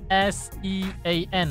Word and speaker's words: Sean: Sean yang sebetul-betulnya S-E-A-N lah, dia pronounce macam S-H-A-W-N. So memang Sean, you nak panggil si An ke apa-apalah, tak kisah.